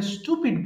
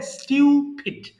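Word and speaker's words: stupid: আমরা স্টুপিড বলি, হ্যাঁ, সঠিক উচ্চারণ হবে স্টিউপিড।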